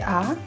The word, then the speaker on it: 파: Ça ne se prononce pas "pa" (sans H), mais "p'ha".